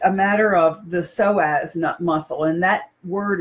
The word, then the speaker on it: psoas: that too but it's a matter of the psoas nut muscle and that word is spelled psoas and I'm going to give you